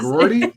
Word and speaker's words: McGroarty: I was going to say is McGroarty? Come on now. I know I pronounce it.